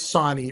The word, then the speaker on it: Sonny: It's Sonny, it rhymes with Bonnie.